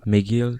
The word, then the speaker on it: McGill: McGill s'écrit MC Gilles, mais ça se dit McGill.